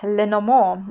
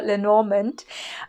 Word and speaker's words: Lenormand: reading a method called leno moore or lenormand if you want to say it or pronounce it more english and it comes from france it's mostly known in